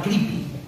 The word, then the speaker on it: Creepy: Eh, finalmente vimos que era una revista americana y que se pronunciaba creepy.